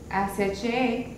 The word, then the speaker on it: ache: ACHE, que se pronuncia ache.